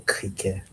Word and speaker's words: criquet: Spelled the same, but the e t is like not even in there. Le criquet.